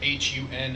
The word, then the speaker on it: Hun: Their leader, whose name is Hun. I don't know how you want to pronounce that. Han. Han. I'm gonna say Han. but Yeah, it's Han.